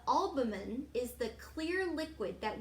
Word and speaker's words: albumen: food from the yellow yolk or alban i always mispronounce that word the albumen is the clear liquid